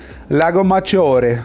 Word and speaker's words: Lago Maggiore: Lago Maggiore. That's, by the way, the crow. That's the correct way to pronounce it, guys. Lago Maggiore.